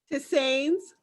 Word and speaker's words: tisane: Hey, Lady Dana, on page 51 of your book, you have a tea recipe for mint tisane. Is that how you pronounce it? Tisanes.